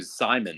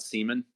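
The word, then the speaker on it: Saaiman: the the guy what's his name Simon right not Seaman yeah it's I mean Seaman is not in a terrible pronunciation but it's it's so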